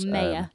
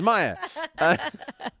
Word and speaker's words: Maya: was the who was or mayor depending on how you want to pronounce the name I wrote it it's Maya and we had Peter's wife